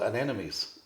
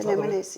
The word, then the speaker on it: anemones: And then we have another one Tom will drop in that, I can never say this word, anemones. Yes, anemones, yes.